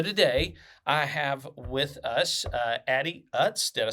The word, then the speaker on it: Addie Utz: So today I have with us Addie Utz.